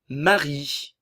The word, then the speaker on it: Marie: Marie, le E final ne se prononce pas.